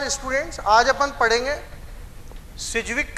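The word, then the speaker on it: Sidgwick: जानते आवाज अपन पढेंगे इंग्लिश में बोलते हैं मैं यहां पर डी साइलेंट होता है सिजविक कि इफेक्टिव एटॉमिक नंबर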